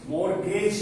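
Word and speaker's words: mortgage: Bond payable, क्या पढ़ेंगे, मोर्गेज payable, T silent रखिएगा, लॉन्ग टर्म, जस्ट एक फॉर्मेट, बाकी आप सबको मालूम।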